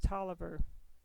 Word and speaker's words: Taliaferro: name is talia farrell which is often pronounced toliver i followed this line